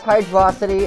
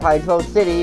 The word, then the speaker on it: Hydrocity: emotion effect also yes I pronounce the Zone's name as hydrosity instead of hydro City for a very specific